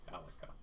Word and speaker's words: Alika: Alika. I would pronounce it Alicia, but okay. I mean, if you want to. Alika it is.